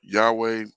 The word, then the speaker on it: Yahweh: of the most high then yahuwah yaha yahuwah uh yahweh uh all would be i would i would consider acceptable as opposed to this